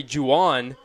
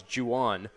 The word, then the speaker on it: Jan: Doyle in Center Henry Jan that is the correct pronunciation I found out before the game it is not Juan it is Jan as the designated hitter